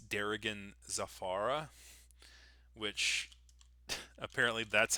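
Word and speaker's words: Darigan Zafara: the what I was recent I called it Derian Zaffra. Apparently it's Derigan Zafara which apparently that's how you pronounce those words and unfortunately I have called it Derisian Zaffra for so long that uh I uh have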